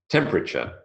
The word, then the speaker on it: temperature: it's elided away memory temperature temperature three syllables not temperature temperature if anyone is familiar